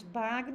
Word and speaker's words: Bagno: Marcos Bagno ou Marcos Banho? Ele falou, pode me chamar de Marcos, tá bom? Então, vocês vão ver o sobrenome dele com essas duas pronúncias.